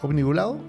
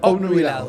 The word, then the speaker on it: obnubilado: Obnibulado. Exactamente. Obnubilado.